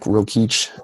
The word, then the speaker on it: Rokeach: can just go to my safe it's rokeach calm I don't know if you have show notes but I'll spell it out for people so okay just in